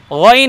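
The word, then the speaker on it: غين: বলবো না গ এবং গয়নকে উচ্চারণ করার সময় আমরা ঠোঁট গোল করবো না গ বলবো না দেখুন ভাই গইন জি আরেকবার বলুন গইন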